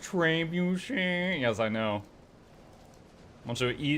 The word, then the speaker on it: trebuchet: It's pronounced Trebuchet.